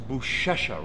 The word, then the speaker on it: Buchecha: I'm your host Mark sareth along with Marcus buesa right that's how they say it yeah now